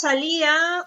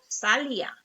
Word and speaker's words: salía: otro en la tercera ahora pasa con la palabra salía dos salía cuando era joven yo salía todos los fines de semana entonces ustedes pueden ver aquí que la la pronunciación es salía dos vocales cerrada y una piel pero no decimos cuando separamos no decimos sal ya yo vamos a ver